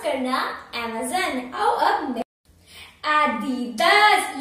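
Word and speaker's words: Adidas: आओ अब एडिडास, ये आप प्रोनाउंस कर चुके होंगे इसका, तो एडिडास, एडिडास, एडिडास, एडिडास, वो जो आदि की तरह लग रहा है, आदि का कोई नाम है इसलिए एडिडास। बहुत जिन ऐसे प्रोनाउंस कर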